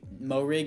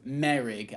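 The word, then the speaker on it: Moehrig: hit for trayvon morig mo rig is actually it's not mo rig um i keep i can't believe i mispronounced that that entire reboot it's pronounced merig i can't believe i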